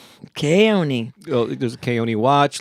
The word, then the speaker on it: Keoni: yeah so and then Hawaiian the E's are pronounced with a long a so K it's K Oni right kayoni kayoni oh there's a Kony